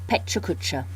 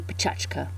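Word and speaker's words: Pecha Kucha: this training bite on Peta cucha that's one way to say the two words at the top there they're Japanese and actually if I was pronouncing them more properly it would be pachka it's a 6 Minute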